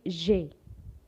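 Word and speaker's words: j'ai: know it's very simple no you don't have to pronounce the ai you just have to say jay if you want to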